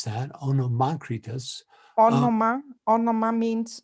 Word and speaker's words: Onomacritus: you, Anne Veronica, for teaching me how to pronounce that, Onomacritus.